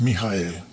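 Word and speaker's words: מיכאל: Si vamos al hebreo y luego pronunciamos en nuestro idioma es Mijael, que cuando los creyentes oyen Mijael, uy, cuánto hebreo sabe.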